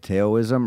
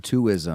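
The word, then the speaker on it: Twoism: Leslie Boards of Canada how do you say it Taoism or no ISM to ISM yeah to ISM that's the one record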